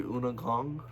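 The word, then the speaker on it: Undergang: U N D E R G A N G. It's under Gang in English, but it's pronunciated Una Gong.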